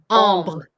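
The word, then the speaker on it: ombré: AN are also all pronounced the same. Oh. Like oh? Ombre.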